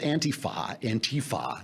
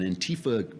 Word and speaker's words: Antifa: I mean, look at you know, this thing with Antifa. Now we got to put the accent on the T. It's on the wrong side. Something wrong syllable.